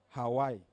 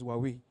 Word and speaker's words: Huawei: This okay you with Nigeria we call it Hawaii but it's not Hawaii. It's Huawei. The proper pronunciation is Huawei.